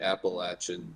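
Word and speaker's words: Appalachian: so it's called the appalachin service project and I said it that way because that's how they say down there uh they pronounced the CH differently and I've because I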